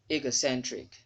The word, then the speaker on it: egocentric: You say egocentric and not ego. When you say go, you're putting the stress mark on GO, and it's wrong. The primary stress is on sen, and the secondary stress is on the first syllable of the word.